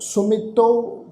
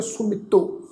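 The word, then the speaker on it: ਸੁਮਿਤੋ: होड़ी की मात्रा वा, इसका पाठ उच्चारण करांगे सुमितो। इकट्ठा उच्चारण करना है। इसका पाठ जिहड़ा है सो मितो इस ढंग नाल उच्चारण नहीं करना।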